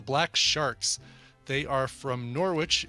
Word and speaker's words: Norwich: sharks they are from Norwich in the UK or Norwich I guess you'd say